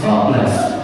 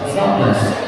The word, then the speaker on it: Zwartbles: of this guy is Zwartbles. Zwartbles. Okay. That's how they pronounce it in the Netherlands. That's how they pronounce it in the Netherlands. However, here in the UK, we're just calling this Warble, because that's pretty much